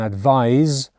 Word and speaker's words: advise: is a noun an advise with a z sound spelt with an s is a verb one way you can